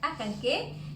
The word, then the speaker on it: Acancé: decía al principio, que se escribe Acancé, pero se pronuncia Acanqué, y otros sitios.